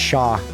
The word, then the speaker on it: chat: French for cat chat pronounced shaw talking about me, dude.